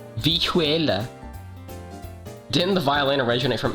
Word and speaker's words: vihuela: Tell me how to pronounce this instrument. Vihuela. Vihuela.